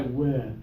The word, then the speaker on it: whip: give it a try whip okay now open more with the lower tongue whb I like it